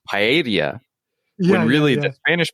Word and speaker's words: paella: spanish person's apartment but in japanese it's pronounced paella when really the spanish pronunciation is more like paella or paella depending on your dialect yes yes yes that